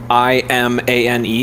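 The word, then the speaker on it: Imane: it's actually like the i-m-a-n-e is actually her first name her real first name and you pronounce it iman so it's literally pokemon but spelled like with a hybrid of her name so she was on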